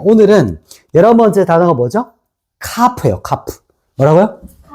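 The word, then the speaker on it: כף: 카프예요. 카프. 뭐라고요? 카프. 카프. 자, 카프는 렇게 씁니다. 카프. 자, 읽어 보세요. 카프.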